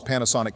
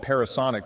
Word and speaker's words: Panasonic: Up next is Donald's Panasonic Q. By the way, when getting things together for this video, I realized we mistakenly called it Parasonic, so shame on Donald for mispronouncing it.